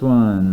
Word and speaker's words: O: So we have to be careful that we pronounce this O with rounded lips, as if we're saying or making the O shape with our mouth. So it's O.